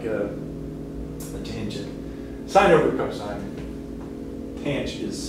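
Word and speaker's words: tanh: cosh hyperbolic cosine and fyi that's usually pronounced tange again i don't know why they added extra c or some extra stuff in there but i guess just to delineate it from regular tangent um but in pinch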